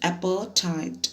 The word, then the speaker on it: apartheid: in the story let's understand apartheid it's a pronunciation students appertite apartheid in america south africa was earlier governed